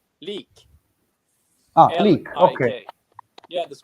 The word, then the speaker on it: Lik: sound is a little bit fresh yeah it's leak ah click okay yeah l i k okay